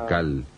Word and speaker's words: Naacal: tierra de este siglo se llamaba naacal n a a c a L o nal depende de cóm lo quieran pronunciar y él era como